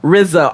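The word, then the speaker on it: Riza: And it was like Rizza. R I Z A. This is how you pronounce it.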